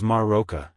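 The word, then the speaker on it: Marroca: were more than that her name was maroka and she pronounced it as if there were a dozen ours in it she was the daughter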